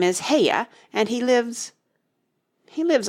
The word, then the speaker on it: Haigha: happy his name is haigha he pronounced it so as to rhyme with Mayor I love my love